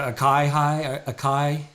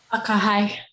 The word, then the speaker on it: akahai: Is it akai? Akahai. Akahai.